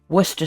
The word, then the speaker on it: Worcester: I also forgot to add that I added a few dashes of Worcester sauce and Worcester sauce. That's how you pronounce it.